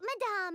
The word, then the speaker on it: madame: I thought we were making sweet madame, which I now know is not pronounced madam, good to know, and